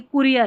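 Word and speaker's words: courier: अगला एक शब्द देखिए, उसमें ओ यू का उच्चारण जो है यानी छोटा वाला ऊ है, जैसे ये कुरियर है, कुरियर में ओ यू है ना, इसका ऊ उच्चारण है। छोटा ऊ है ना, वो वाला उच्चारण है।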